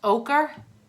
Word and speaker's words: ochre: O'Shea is pronounced ochre?